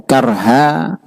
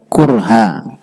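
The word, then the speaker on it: كرها: Karha itu ada dua cara membacanya. Ada karha, ada kurha.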